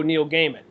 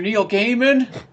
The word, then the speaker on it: Gaiman: I mean, like gay man, right?